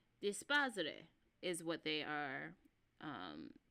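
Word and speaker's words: D'espairsRay: Um Dispos is what they are um pronounced as.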